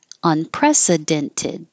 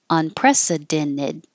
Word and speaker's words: unprecedented: hold that final t unprecedented or unprecedented when the t comes after the n and the unstressed syllable you can hold the in and just make the T disappear impressed instead of dent